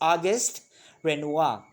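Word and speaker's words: Auguste Renoir: have now august renoir okay that's how you pronounce it it's august renoir along with monet was one of the central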